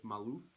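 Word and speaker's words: Maluf: that comes out so back in 2002 Muller Maalouf is how you pronounce it from Alif proposed the the general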